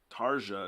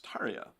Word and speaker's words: Tarja: say it that poorly tarja is totally wrong right it's tarya of course so we're